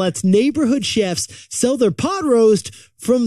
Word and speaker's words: Shef: you should know that it's spelled s-h-e-f so it's chef with an S because a majority of the chefs on Chef are women chefs they're she chefs that's why it's Chef now yetis here's what